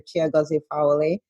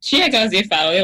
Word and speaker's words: Chiagozie Fawole: in the ICU once, where I pronounced my name like I just did. And this Nigerian lady just totally washed me down because she said that I anglicized my name. So I'm Chiagozie Fawole, a pediatric anesthesiologist based in Syracuse, New York.